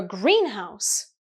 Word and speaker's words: greenhouse: which is green but the compound noun a green house is a place where you grow plants completely different meaning okay so you have to be careful stresses can help usually the stress is on the first syllable in compound nouns okay I hope